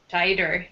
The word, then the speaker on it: tighter: Yeah, so the first T is a true T sound. Yes. Very second T is a T sound, yeah.